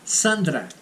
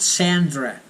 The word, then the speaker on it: Sandra: Sandra, not Sandra. Sandra is in English. Olá. Hello, I'm Sandra. Sandra. That's the pronunciation, okay?